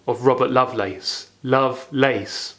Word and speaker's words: Lovelace: If we look to the name of Robert Lovelace, Lovelace. Some contemporary readers would have pronounced it loveless, as in lacking love, loveless, which is an allusion to Colley Cibber's libertine figure in Love's Last Shift in 1696.